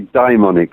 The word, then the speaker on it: daimonic: other world yes um make sure you pronounce it so it doesn't sound demonic right i yeah united it should be dymonic really but it is it's about uh yes the diamondic world rather than the